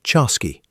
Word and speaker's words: Chasqui: You're a Chasqui, pronounced Chasqui, and your job is simple in theory.